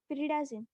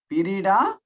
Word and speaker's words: pyridazine: Can you pronounce it for me? Pyridazine. Pyridazine.